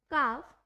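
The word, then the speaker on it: calf: L जो है वो कब साइलेंट होता है, मतलब हमें L की साउंड कब नहीं देनी होती है, वो हमारा होता है after vowel A, O एंड U। अगर हम L का यूज कर रहे हैं A, O, U के बाद तो वहां पे हमें L की साउंड नहीं देनी होती है, वहां पे जो L है वो हमारा साइलेंट रहता है।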